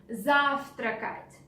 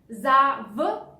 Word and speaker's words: завтракать: Завтракать. Take a look at this V letter. Завтракать. In spoken Russian language, we don't pronounce it like V. We say F. Завтракать.